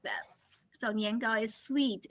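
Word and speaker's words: 年糕: rice, so she's making niangao. Niangao is one of the two major like snacks, right? For Chinese New Year, niangao has the same pronunciation with niangao, which means every year you go up.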